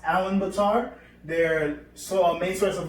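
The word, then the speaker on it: Ulaanbaatar: where Mongolia is located their capital was actually pronounced Allen Betar there so main source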